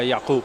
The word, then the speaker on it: Jakub: I'm assuming you pronounce this Jakob or Jakub, yeah? Jakub. Yeah, Jakub, yeah.